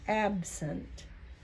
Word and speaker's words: absent: Absent. Now, you said sent because you know that's a word. But when I say that, I say absent.